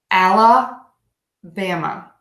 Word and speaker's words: Alabama: let's try this again I'm going to say it very slow each beat al Bam of ala bama alabama alabama alabama okay